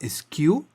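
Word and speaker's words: SKU: ver vamos a comentar el sq que normalmente se pronuncia Excuse porque son sus siglas en inglés se usa normalmente por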